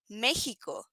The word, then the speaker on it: México: So in the case of Mexico, in the case of Mexico, we pronounce it México. Se pronuncia México en español.